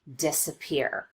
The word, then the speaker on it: disappear: not quite as noticeable an example of secondary stress would be the first syllable in this word disappear we do spend some time on this syllable and we do make the vowel louder and longer but not quite as much as we do on this last syllable the third syllable peer if both of these